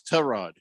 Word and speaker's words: Tyrod: it it's Tyrod Taylor TR Rod Taylor it's trod you got pronounce butchering it it's just trod look you're the guy